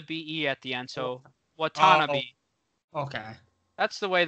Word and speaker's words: Watanabe: John Conchar, and then Yuta, how do we want to pronounce his name? Watanabe. There's an extra A in there. I feel like I want to add that A in there. Watanabe. I only have two A's down on his name.